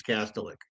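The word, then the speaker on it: Kastelic: two goals from our Castellic, Castellic, Castillic, whatever you however you want to pronounce it. I think his father called himself Castellic, but but apparently um Marcus told us it's Castillic.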